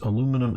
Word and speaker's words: aluminum: So it's not a correct and incorrect pronunciation. It is two different words, aluminum and aluminium.